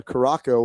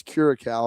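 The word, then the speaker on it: Curaçao: I am live from you from Curacao, which I thought was Caraco when I was looking at how to spell it. My ignorant English or American knowledge of the world. Steele, someone's like, no, dude, that little squiggly thing, that makes it French, and that's Curacao.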